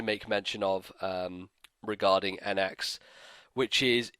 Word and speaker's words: NX: but it's not actually cuz in Japan if it was a cross then he would have said cross cuz that's how they say it he said n x so in Japanese it is an X not a CR it's a whole thing